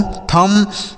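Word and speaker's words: thumb: कैसे पढ़ना है, कॉम बॉम थम डम लैम।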